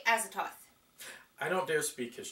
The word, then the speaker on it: Azathoth: this one will be AZ Roth or if you want to pronounce it correctly azoth I don't dare speak